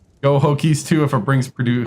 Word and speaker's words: Hokies: I always say Hoagies. I don't pronounce the K. I need to start pronouncing the K. Hokies.